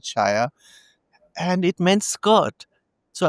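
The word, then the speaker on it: saia: And so and then I came across this word spelled Saya, but I think they also pronounce it shaya, and it meant skirt.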